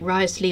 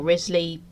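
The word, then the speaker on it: Wriothesley: the warrant because Thomas rottersley I know there are many ways to pronounce his name like risely or Risley but I'll say it how I wish he knows that Henry's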